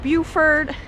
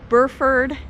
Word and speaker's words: Burford: now we are in buford wait is that how you say it burford yeah we only have